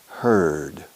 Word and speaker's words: heard: Con añadir una D, la letra D al final, la pronunciación cambia. Heard.